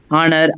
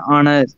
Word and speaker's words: honor: the slide um yes though H is consonant in words like her honor and honest the letter H is silent so we use the